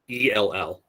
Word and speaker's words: ELL: let's keep going so i've always heard this pronounced e-l-l um but i've learned recently that this can also be pronounced l um so it i guess depends on on where you're exposed to this acronym but it can either be you can either say l or ell i've i've always just